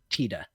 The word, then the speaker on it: Tita: But the Japanese pronunciation is based on the word for sun, which is Tita.